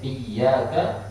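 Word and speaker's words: إياك: memohon pertolongan itu artinya iyyaka bittasydid adanya ada tasbihnya dan ditekan pelafalannya kalau kemudian ditafsif Wa iyyaka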